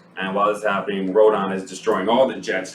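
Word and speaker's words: Rodan: No, I'm saying, but they're I'm sorry, but it's Rodon.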